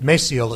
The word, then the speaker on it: Maciel: We have a very special guest tonight, Maciel, is it? Maciel, it's pronounced.